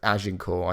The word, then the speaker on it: Agincourt: We went to the village of, I mean, it's spelt like Azincourt, but it's Agincourt, I think it's pronounced.